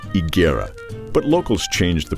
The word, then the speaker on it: Higuera: is now modern-day Arizona the name is correctly pronounced igera but locals changed the pronunciation and today it's known as haera the haera settled in California's First Pueblo San